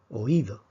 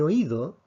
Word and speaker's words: oído: y tenemos la palabra oído oigo oído en oigo vemos que la sílaba la fuerza está en lado en cambio en la